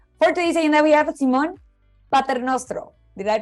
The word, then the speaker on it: Simone Paternostro: For today's agenda, we have Simone Paternostro. Did I pronounce that correctly?